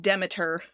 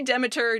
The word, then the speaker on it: Demeter: They do pronounce it Demeter. Both are, I've heard both. Yeah, it's okay. So I'm going to say Demeter just because that's what they say in the game.